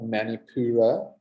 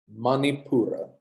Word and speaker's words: Manipura: not many Pura okay don't English size the sounds not many purer okay not manipura manipura we must pronounce the